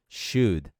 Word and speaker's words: should: Deveria em inglês é bem simples, é should, should. Como é deveria? Should. Não é should, não é showed, não é nada disso. É apenas should, should, should. E esse D pode até quase não ser pronunciado.